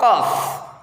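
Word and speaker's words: ق: Yang pertama huruf qaf. Qaf cara pengucapannya yaitu yang pertama, tempelkan rapat-rapat lidah bagian belakang pada langit-langit lunak.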